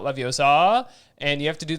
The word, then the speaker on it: Leviosa: for whatever, but you gotta just, you have to say Leviosa and not Leviosa, and you have to do the swish correctly.